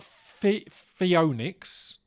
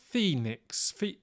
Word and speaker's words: Phoenix: it spelled wrong right it's not fionics Phoenix yeah Foie Nicks Phoenix so it should be yeah rather than the way it is spelled which is p-h-o-e-n-i-x I felt fee Phoenix I can I can forgive the oh more in that context rather than it going furry Nix so that's the only